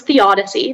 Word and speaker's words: theodicy: all the information uh so the word is theodicy that's the only pronunciation it's a noun it's